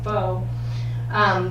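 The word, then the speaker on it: phở: it's very similar um it's called f-o-e and i've been told by that karen coates woman that it's faux but it's it's the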